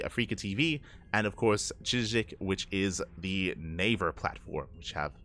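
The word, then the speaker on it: CHZZK: I did look into how to pronounce it. Chijik.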